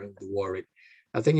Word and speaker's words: Warwick: would be warwick so you don't pronounce the w in the second one so you don't say a word wick when you say warwick so you sort of a double r and the warrick i think it's it